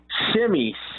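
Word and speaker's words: Semi: Shimmy, just like the dance, Shimmy.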